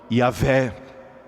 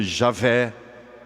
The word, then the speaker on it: Yahvé: Na língua hebraica se diz o santo nome Yahvé. Em português nós costumamos dizer Javé.